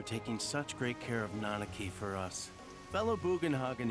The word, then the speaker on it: Nanaki: so I was like I always called him nari it seems like nanaki I will try to